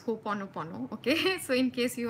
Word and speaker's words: Ho'oponopono: First of all, do Ho'oponopono. I like calling it Ho'oponopo, okay, but that's the incorrect pronunciation, but it sounds cuter. I've always called it Ho'oponopo, but the correct pronunciation is Ho'oponopono, okay?